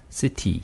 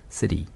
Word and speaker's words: city: 그러면 첫 번째 단어가 city겠네요. 그러면 CT 발음을 그대로 해버리면 city. city. 네, 약한 D 발음을 해버리면 city. city. city.